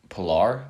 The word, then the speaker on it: Pillar: sound stupid um so what's the name kevin pillar that's how you pronounce all right sorry i didn't say pillar no because i thought it was pillar but